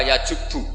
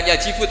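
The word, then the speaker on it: يجبّ: Itu bacanya bukan yajibu tapi apa? Yajubbu a yaq lah.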